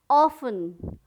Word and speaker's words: often: ऑफन, OFTEN, ऑफन, sorry, यहाँ पे टी पे साइलेंट वर्ड है, साइलेंट लेटर टी है, तो ये क्या हो गया, ऑफन, ऑफन, OFTEN, ऑफन। Castle, CASTLE, castle.